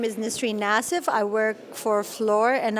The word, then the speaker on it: Nissreen Nassif: are and what you do my name is nistri nassif i work for floor and i'm pipeline design